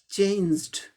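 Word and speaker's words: changed: अब ये ज साउंड वॉइस्ड है, इसीलिए इसके साथ जो ये इन्फ्लेक्शन पास्ट पार्टिसिपल है, ये ड हो जाएगा, चेंज्ड, चेंज्ड।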